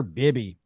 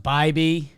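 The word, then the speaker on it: Bibee: Bibby so I one I think it's pronounced by B which yeah that makes it bad makes it a Tanner baby yeah Tanner Bibby great Tanner baby um you're mispronouncing your cool name sir no it's funny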